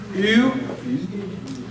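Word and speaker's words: ευ: All right, then we have epsilon upsilon. All right, that's the most difficult one. U. Some people say U like in feud. That's okay to say it that way.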